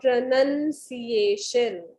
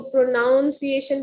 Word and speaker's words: pronunciation: ठीक है, अगर आप इसको प्रोनाउंसिएशन बोलते हैं तो गलत है. NOUN नाउन नहीं है इसमें, NUN नन है.